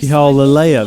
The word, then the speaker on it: Lalaia: bows and we'll go y'all Alea that's how you say it like Princess Leia but French she's too far away